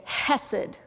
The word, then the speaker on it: hesed: is a word that I'll pronounce the easy way hessed it actually has like Aid thing at the beginning so I'm not doing